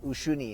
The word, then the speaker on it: Uyuni: and then to uni i think it's pronounced ushuni in spanish but okay now that